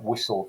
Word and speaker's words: whistle: look at particular words like whistle for example w-h-i-s-t-l-e or thistle we accept the emission of the t there without without question uh another good example